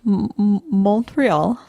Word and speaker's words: Montreal: Yeah, but you hit that T. Like they say the T. Montreal. You barely hit that T. You tickled that T.